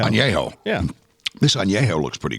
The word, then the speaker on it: añejo: How's it pronounced? Añejo. Añejo.